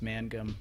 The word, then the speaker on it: Mangum: And before you start, just for your sake, my last name's pronounced Mangum, not Magnum. Not that you've said Magnum before, but a lot of people do.